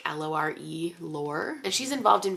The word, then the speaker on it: Lore: So we have this girl named Lore, spelled like L-O-R-E, Lore, and she's involved in various, like, scams